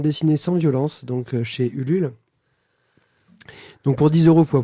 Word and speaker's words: Ulule: vérifié, ça se dit vraiment Ulule. Ouh, loulé. C'est français, monsieur. on C'est dit français, Ulule. monsieur. Donc le U, ça se prononce U, quoi.